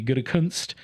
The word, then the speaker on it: Gutekunst: as some people make you say it correctly, Gutekunst, wouldn't ever want to do is play his hand.